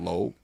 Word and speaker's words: Lou: my name in Mandarin is actually pronounced Lo. So it's like Right. it's like low, like it's Yeah. actually more low than Lou. Obviously, I even say it as Lou because it's like anglicized.